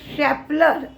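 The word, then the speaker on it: Schaeffler: 144 वरनं 120 एवढा आलाय आज क्रिसिल आणि शाप्लर एस सी एच A double F एल इ आर असा त्याचा स्पेलिंग आहे हे या दोन्हीचे रिझल्ट लागू शकते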